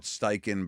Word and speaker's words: Steichen: That is how he pronounces his last name, correct? I call it Steichen, but I don't know if I'm 100% right.